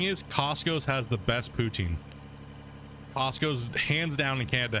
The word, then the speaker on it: poutine: Putin yeah they don't some people say it's pronounced that way but no it's not if you're actually from Canada all Canadians call it poutine okay people try to say it's Putin and stuff like that but it's not Canadians pronounce it poutine I was yeah people